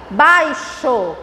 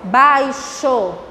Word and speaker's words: baixo: Olha a pronúncia. Faixa. Olha em seguida. Baixo. Baixo não é com CH, mas é com X. Tia, e a pronúncia? Baixo.